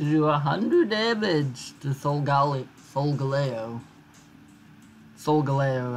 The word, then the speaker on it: Solgaleo: Solgaleo, I think that's how I choose to pronounce it. Because Sol is sun, and Galileo, who's like, look at the sun, yo, but don't actually look at it, that'll hurt your eyes.